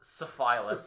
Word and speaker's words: syphilis: pronounced syphilis.